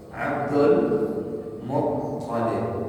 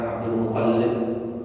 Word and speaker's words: Abdul Muttalib: Abdul Muttalib yang pakai tasdid toknya, bukan lamnya. Bukan Abdul Muttalib, bukan Abdul Muttalib.